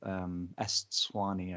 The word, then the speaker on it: Eswatini: They used to be called Lesotho and Swaziland, and Swaziland's now called Eswatini, I think is the pronunciation.